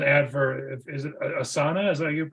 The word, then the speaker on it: Asana: there was an ad for is it a Asana is that how you pronounce it yeah I use the I've used